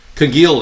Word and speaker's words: congealed: The California fires looked like congealed is a soft G.